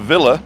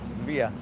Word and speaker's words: villa: So every time you say villa, you're mispronouncing 2 letters wrong. The Spanish pronunciation of villa Via.